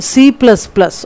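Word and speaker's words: C++: अब इसके कुछ एग्जाम्पल भी आ रहे हैं, some popular HLL are basic सी, सी plus plus, pronounced सी plus plus.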